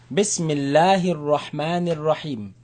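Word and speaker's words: بسم الله الرحمن الرحيم: Bismillahir Rahmanir Rahim. If you don't know how to say it, don't worry, just try. Bismillah, Bismillahir Rahman, Bismillahir Rahmanir Rahim.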